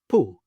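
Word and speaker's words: πού: Then we have an O and an I, and together they make the sound U, as in boot, boot. And the Greek example, pu, pu.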